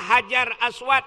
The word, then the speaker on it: Hajar Aswad: nabati sini nembak Canyon Hajar Aswad Indonesia padahal Bacanya adalah Hajar Aswat hajar batu Aswad hitam